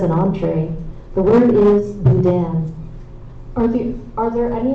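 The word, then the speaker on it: boudin: The word is budan. Are the Are there any alternate pronunciations? Budan.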